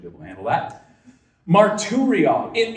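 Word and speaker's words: μαρτυρία: That word testimony in the Greek is pronounced marturia. Marturria. Got that good, right? It's only four syllables, so I should be able to handle that. Marturria.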